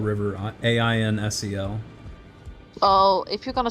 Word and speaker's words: Ainsel: So it's like incel, but with an E. No, there's an A-I-N, not I-N.